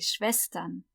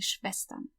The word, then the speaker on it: Schwestern: Die Schwestern. Remember, SCH is always sh, and the W is always v, like a V. Die Schwestern.